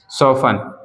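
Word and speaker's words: soften: हमें भी पढ़ना चाहिए सफन एसओ एफ टी एन सफन का मतलब होता है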